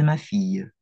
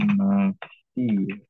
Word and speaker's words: ma fille: Ce sont ceux de ma fille. Ces chaussures sont à toi? Ini feminin plurial. Celle-là, non, ce ne sont pas les miennes. Ce sont celles de ma fille. Bacanya ma fille. Kayak ada y-nya.